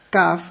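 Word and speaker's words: CAFH: CAF se escribe C-A-F-H.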